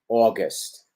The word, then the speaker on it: August: Recuerden que es una A que se abre, August, August. Y aquí con la primera sílaba acentuada tenemos contraste con la segunda que es breve, breve, breve, breve, ¿ok?